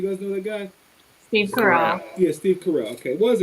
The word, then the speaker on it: Carell: Steve Carell. Yeah, Steve Carell. Okay, was it Steve Carell, Chris Rock, Jay Farrow, or Eddie Murphy? Steve Carell, Chris Rock, Jay Farrow, or Eddie Murphy?